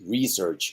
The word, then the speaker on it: research: which is a noun research is the verb this research with the stress in the first syllable therefore that e is